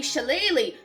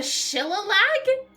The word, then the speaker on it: shillelagh: The ancient Dooley Shillelagh. Finally a word I know how to pronounce, thanks to Dungeons and Dragons. The Shillelagh?